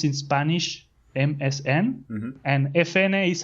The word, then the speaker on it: Efene: it's how you pronounce in Spanish MSN and if na is how you pronounce in Spanish FN the two letters right